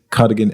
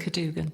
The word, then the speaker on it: Cadugan: I've got Martin Saxby and Kate Cardigan Evans. Is that how you pronounce it? Kadugan.